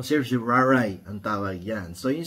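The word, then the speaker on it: certiorari: minsan sinasabi nung araw sir jari pero pag narinig mo si si Miriam Santiago which is also a professor of law sasabihin niya mali ang pronunciation niyo hindi yan sir jari no sir jaray ang tawag yan So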